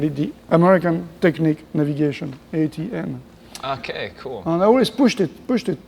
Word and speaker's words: Etienne: one of them found oh ITN sounds like a a t and an then so I'm going to call you ATN now okay great so